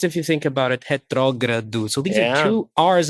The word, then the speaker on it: retrógrado: I think it was the first time I ever pronounced the word, I said it out loud, the word retrógrado, which in Portuguese, it's quite difficult if you think about it, retrógrado.